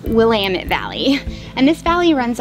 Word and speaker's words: Willamette: keep in mind I always thought it was pronounced Willamette Valley but it's actually pronounced Willamette Valley and this valley runs all the way